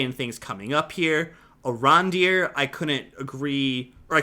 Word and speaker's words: Arondir: But a question about Iranadir there. Okay. Or did I say it right? I'd say Arondir. I think that's how you say it. Arondir.